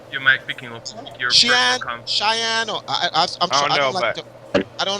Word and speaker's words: Xian: Aric, you might picking up your Cheyenne, or I don't like to mispronounce his name. How do you say his name? Xian. I'll just say it in Jamaican. Xian, right?